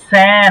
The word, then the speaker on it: zehn: তারপর sieben, জিবেন, acht, আট, neun, নয়েন, zehn, সেন। 11, সেন। জেন কেন? zehn, জেড কে আমরা কি উচ্চারণ করি? zehn, ছয়ের মতো না, সেন। তারপরে কি?